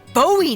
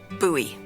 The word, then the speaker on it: Bowie: And then all of a sudden, with no warning, he pulls out this huge rusty Bowie knife. It's actually pronounced buoy.